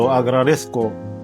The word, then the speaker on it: agradezco: nhé: "Gracias de antemano" Các bạn nhớ khi nói "Te lo agradezco" thì lưu ý phải phát âm chữ "z" ở giữa này nhé không được bỏ đâu Chúng ta tiếp tục